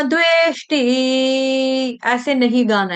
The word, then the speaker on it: द्वेष्टि: ठीक है, हल्का सा द का टच देना, न द्वेष्टि, थोड़ा दबाव आए, आना चाहिए मुंह में।